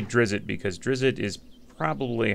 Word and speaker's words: Drizzt: It's unpronounceable. I say Drizzt because Drizzt is probably how I would say it.